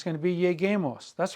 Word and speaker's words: lleguemos: You can't say double L-E-G-E-M-O-S, so it would be lleguemos. We must maintain the integrity of the hard G sound in the infinitive.